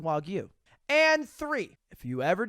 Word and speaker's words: Wagyu: two Wagyu beef pretty good to be it's pronounced Wagyu and three if you ever decide to spend